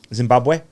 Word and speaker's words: Zimbabwe: You mentioned Zimbabwe. Yeah. Good pronunciation? Bad Zimbabwe, yeah, pronunciation? no, it's It's Zimbabwe, okay.